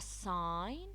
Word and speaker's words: sign: again it's silent no the K silent a sign the G is silent knob decay silent climb there be a